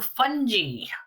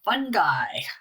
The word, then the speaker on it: fungi: And into fungi or fungi, however you want to pronounce it.